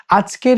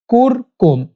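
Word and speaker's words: أَذْكُرْكُمْ: উচ্চারণ সঠিক উচ্চারণ হচ্ছে কুরকুম কাফর পেশ কুর কাফ মিম পেশ কুম কুরকুম আজকুর কুরকুম আজকুর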